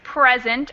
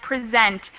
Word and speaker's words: present: and the second present yes present and present so the stress changes between the noun and the verb verb form like we saw in